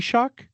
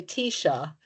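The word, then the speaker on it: Taoiseach: T T T T T-shock. T-Shock. T-shock. Yes. Well, it depends. I mean, like it's very annoying because like in olster you would say tisha.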